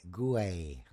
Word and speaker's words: Guay: We've been pronouncing it g w a y, but you are suggesting the sound is closer to g o y. Yes. Often in Oh, go for it. No, I'm saying it is g o hyphen e y as the proper pronunciation.